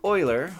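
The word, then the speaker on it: Euler: These horrors over here involving Oiler's number. And yes, as long as we're correcting things that is pronounced Oiler, are technically correct and do still have some application I'll get to later.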